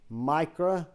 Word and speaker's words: Mikro: Mikro, M-I-K-R-O, because my pronunciation is not going to sound like the spelling.